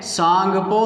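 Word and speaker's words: Tsangpo: तो इसका नाम क्या है, सांगपो नदी, है ना। इंग्लिश में टी इसमें साइलेंट रहता है।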